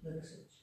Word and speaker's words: Liversedge: Liversedge.